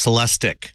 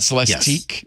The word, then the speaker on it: Celestiq: It is a Cadillac, and it's pronounced Celestic. Celestic. Not Celestique.